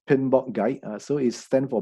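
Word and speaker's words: PMBOK: a lot of knowledge inside so his is pronounced pinball guy and so is then for project management body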